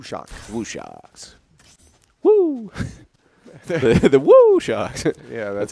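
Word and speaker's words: WuShock: State Woo Woo shock wo shocks woo the woo shocks yeah that's how it's pronounced that's great but as you see there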